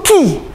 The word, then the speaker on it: chi: Yang X itu bukan X. Itu Ki. Itu huruf Yunani. Ki. CHI, bacanya Ki.